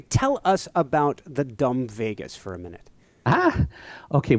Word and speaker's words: vagus: And so this vagus nerve, right? Think of Las Vegas, except it's spelled differently.